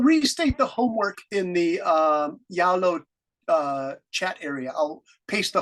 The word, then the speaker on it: Zalo: I keep saying Zalo, but Ms. Duke said Brennan is Yalo because my pronunciation on Z is Zalo, but it's Yalo.